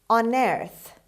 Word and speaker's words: unearth: word number one on earth on earth on earth as you see their stress is on the second syllable means dig up dig